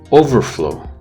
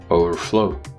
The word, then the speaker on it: overflow: A similar thing can happen in other words, such as pervert, pervert, overflow, overflow, etc. So you just change the stress.